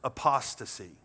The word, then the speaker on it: apostasy: word if you don't know this one it's pronounced apostasy if somebody is apostate or they teach apostasy